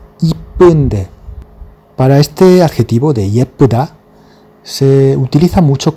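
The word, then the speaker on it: 예쁘다: Para este adjetivo de yepuda, se utiliza mucho coloquialmente la forma ipuda, se escucha mucho. Y está muy extendido su uso entre los coreanos normales, siempre dice ipuda, en lugar de yepuda, que es la palabra oficial, la pronunciación oficial. Eso sí, siempre que se escribe hay que escribirlo con el ye, yepunde, yepuda.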